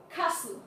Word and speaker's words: castle: For example, we have castle, Christmas, and often. For the first one, we are gonna pronounce castle without the sound of the T.